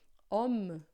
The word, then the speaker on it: homme: Se a gente tiver essa letra em outra palavra, por exemplo, como aqui, ó, homme, homme, esse E final, a gente não lê, a gente fala homme, termina em me, né?